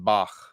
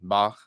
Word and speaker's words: Bach: the little blue book think of this we this guttural sound like the name Bach like Bach and Beethoven Bach that's how you pronounce this okay so line two